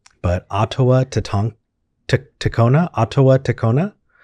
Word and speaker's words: Ottoa: hello hi hi hi how how do you pronounce your name uh auto otoa okay so like ottawa sounds good hey thank